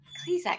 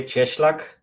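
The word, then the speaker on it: Cieślak: we have philip carter and um coziak kleezak how do i say your last name i mispronounced that it's yeah it's actually cheschlach no one will be able to do that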